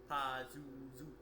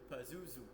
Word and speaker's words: Pazuzu: whatnot so What's that name you're saying puzzle Pazuzu say it would be huh Pazuzu yeah so um yeah yeah kind of like